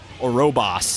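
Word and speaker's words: Ouroboros: my friend was giving me crap for not pronouncing orobos right orobos that's there we go what is this an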